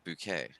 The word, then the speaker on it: bouquet: of flowers or bokeh or flowers whatever everyone pronounce it that fits through okay that fits bucket no no bouquet for the British um and it fits through